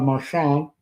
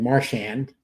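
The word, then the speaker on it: Marchand: But I am interested in the fact that the former captain of the Boston Bruins, Brad Marshant, or Brad Marshand, depending on how you want to pronounce it, uh he is on the Florida Panthers.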